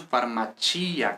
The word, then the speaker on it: farmacia: que curiosamente o sea lógicamente en español es farmacia pero en italiano es pharma chilla con acento en la y no es entonces para